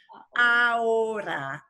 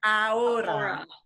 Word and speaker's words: ahora: Ahora, ahora, ahora, ahora. Ahora. And you don't really need to, well, you need to know when you read that it's spelled with an H, but of course you